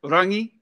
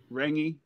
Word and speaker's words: Rangi: rant Randy it's it's well pronounced properly it's Ronnie but you can say ringy or yeah i butchered it